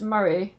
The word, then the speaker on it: Moray: And did you join the photography club at Moray School of Art or TIGA? It's pronounced Murray, Oh, sorry.